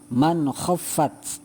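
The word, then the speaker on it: مَنْ خَفَّتْ: Jadi bacanya adalah man khaffat. Jadi tidak ada dengungnya. Man khaffat, jelas, ya.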